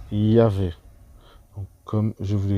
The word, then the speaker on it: Yahvé: Et cette lettre-là, donc le W qui est prononcé V, d'où le fait que ce tétragramme représente Yahvé.